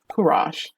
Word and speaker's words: Kuras: I talked to Min um Lander and I'll say Curus, but I I pronounced his name wrong. Kurash.